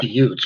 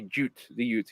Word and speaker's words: Jutes: Because they completely merged with the Angles, and so like even though like technically I think like the Utes, okay, yeah, the Jutes.